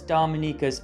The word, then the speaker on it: Dominica: If you're wondering what sets Dominica's underwater landscape apart from the other Caribbean islands, then the answer lies 70,000 years in the past.